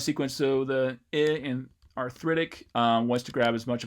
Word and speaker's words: arthritic: It's not arthritic, it's arthritic.